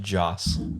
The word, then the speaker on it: Joss: He's Joss the same. Whedon? Josh Whedon. He's the, one same that's guy. Not Who Joss. It's just Joss.